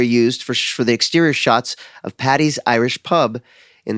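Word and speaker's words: chat: little French would be shot. You wouldn't say the t but they're saying shot which is the French term for can we say that?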